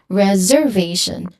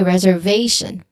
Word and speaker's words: reservation: So they say it like this reservation reservation should be reservation reservation. So there is an incorrect syllable stress there which is possibly influenced by you know stress patterns in other languages or you know simply guessing. So how you pronounce this one is reservation stress syllable syllable that is stressed is on the third one v.